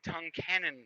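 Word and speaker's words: Tunkhannock: did Matt lives in tongue canon PA he lives in tongue canon it's spelt like tough kenan in' or whatever but yeah has anyone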